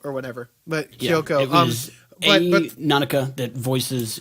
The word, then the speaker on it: Kyoko: Kyoko. Kyoko. But it's spelled it's Kyouko. So that's a different way how they usually spell Kyoko. And I was like, Koyuko or whatever. But Kyoko.